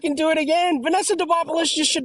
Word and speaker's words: Demopoulos: Vanessa Demopoli against Jacqueline Amorim. I am the worst pronouncer of last names in the world.